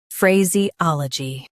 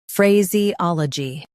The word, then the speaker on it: phraseology: Phray, Z, ol, G, phraseology. Stress ah in US, ol in UK.